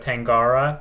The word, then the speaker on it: Tangara: young and and if you haven't seen the tangara like the Train the tangara it's spelled t a n g a r a